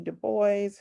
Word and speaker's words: Du Bois: quote um from w.e.b du bois and he does pronounce the s in his name or he he wrote that he preferred the s to be pronounced um but um i